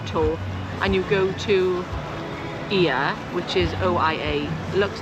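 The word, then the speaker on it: Oia: are on a tour and you go to I which is I a looks like o but it's pronounced I then don't buy your magnets there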